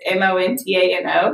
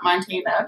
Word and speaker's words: Montano: my last name is m-o-n-t-a-n-o so montano not montana people get that convenience